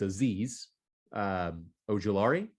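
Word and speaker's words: Azeez Ojulari: up next we've got excuse me on the pronunciation of this it's aziz uh oh jalari you got it you got it all right azizo jalari ed rusher uh tell me about this man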